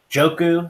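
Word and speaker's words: Njoku: He's got Joku, is how you pronounce it.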